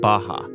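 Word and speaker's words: Barra: is the place called Baja ours are pronounced like H in Portuguese this is a new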